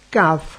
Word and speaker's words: Cafh: CAF se escribe C-A-F-H.